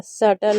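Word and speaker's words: subtle: अब देखिए बी कब साइलेंट होता है। जैसे ऊपर भी बी साइलेंट था तो नीचे भी कुछ वर्ड मीनिंग में बी साइलेंट है, तो ये फिक्स है। आप इसको याद कर सकते हैं। जैसे डेट हो गया, डेटर हो गया, डाउट हो गया, सटल हो गया। तो यहाँ पर बी आपका साइलेंट है, ठीक है।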